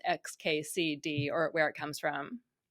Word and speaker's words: xkcd: You've got it right there. It's xkcd. I actually spent a lot of time trying to pick out 4 letters that would be clear that they didn't have an obvious pronunciation so that people would not try to read it as a word.